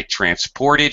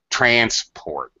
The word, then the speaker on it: transport: a bus as transport transport all right as a noun you stress the first syllable as a verb I had to transport him transport him you stress the second syllable this is very common